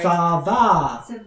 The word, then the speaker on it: Thava: Thava. Like lava.